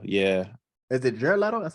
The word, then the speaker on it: Jared Leto: Margaret Robert the first one had Jared Leto Jared letter yeah is it Jared Leto that's how you say it yeah um it